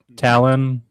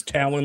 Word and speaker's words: Talon: Talon, like an eagle. That's how I thought about it. Yeah. Hell yeah, that's right, Keith. That's the right answer. So it's Talon like an eagle.